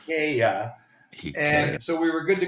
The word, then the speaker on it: IKEA: just been delivered from Ika which is how you pronounce it here it's not Ikea it's Ika so we were good